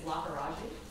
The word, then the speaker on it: Lakkaraju: Yes, Your Honor, we'll be representing the government today, and my last name is Lakkaraju. That's spelled L-A-K-K-A-R-A-J-U.